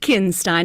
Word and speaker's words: Kinstein: It's pronounced Kinstein, and please, call me.